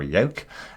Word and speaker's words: Yauch: when he's speaking to Yauch. Essentially, or Yoke. Apologies to Detective Yoke. Obviously, everybody seems to mispronounce his name in the SSR.